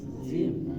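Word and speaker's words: جيم: এই অক্ষরটা উচ্চারণ হবে জিহ্বার মধ্যখান, তারপর উপরে তালুর সাথে লাগায়া, ঠিক আছে? জিহ্বার মধ্যখান, তারপর উপরে তালুর সাথে লাগায়া শব্দভাবে জিম জিম জিম জিম জিম জিম।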